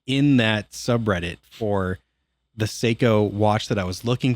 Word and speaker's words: Seiko: Oh, I thought it was literally just like psycho. Like a psychopath. No, I probably pronounced that wrong. I think it's I think it's Seikko. I think that's how you're supposed to say it.